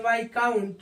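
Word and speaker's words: viscount: एस सीओ य एन टी वा काउंट पढ़ते वाई काउंट यहां भी क्या होता है य साइलेंट होता है इस प्रकार से आप देखेंगे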